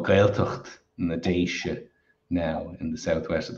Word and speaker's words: Déisi: So in its modern form, it's spelled D-E for the I-S-E, and it's pronounced Déisi. And I think this older spelling, D-E for the I-S-I, would be pronounced similarly, Déisi.